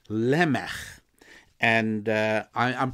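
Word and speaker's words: Lamech: there was somebody called lemon and I am pronouncing it with the Hebrew pronunciation with a at the end like at the end of the composer Johann Sebastian Bach lmf same sound and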